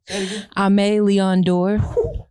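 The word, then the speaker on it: Aimé Leon Dore: know have such notoriety say that one more time because i've never heard nobody pronouncing that correctly right i'm a leon door never heard nobody pronounce that right it's because i'm really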